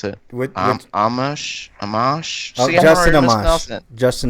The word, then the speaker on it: Amash: Do you know how to pronounce it? Amash? Oh, Justin Amash. Justin Amash, yeah.